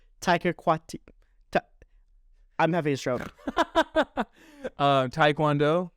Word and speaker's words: Taika Waititi: Kevin Taikawidi. Kevin? How do you say his name? Taika Waititi.